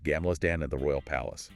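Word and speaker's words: Gamla stan: You get this amazing perspective on Gamlerstan, the old town, pronounced Gamlerstan, and the Royal Palace, right from the water.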